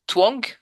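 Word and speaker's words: Tuong: Quand je parle, je dis twang.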